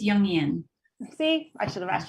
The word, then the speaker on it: Jungian: a the founder of Invision feminine leadership a jungi and life coach did I pronounce that right it's yungan see I should have asked you first oh